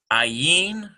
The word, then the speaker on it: Ayin: And you'll notice this is because an ayin is a silent letter. So that means that the letter itself does not have any sound except for whatever vowel pointing is around it.